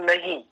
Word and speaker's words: नहीं: एक शब्द होता है नहीं, किंतु जब मुझे ये पकड़ में आता है, बहुत अच्छे से आता है, किंतु मैं जब इसका उच्चारण करता हूं तो नी, ऐसा नहीं करना ना, ऐसा नहीं करते।